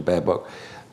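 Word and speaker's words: Baerbock: the green with analina berbock is is that a mispronunciation bear book um it is you nodded it's it's a mispronunciation no no it's a correct pronunciation i don't want to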